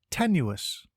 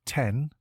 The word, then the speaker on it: tenuous: Today's word is tenuous. It is pronounced ten-u-us and is spelt T-E-N-U-O-U-S. Think 10, the letter U, and then us.